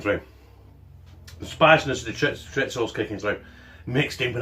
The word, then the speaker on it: chorizo: Apparently that's how you say it, chorizo.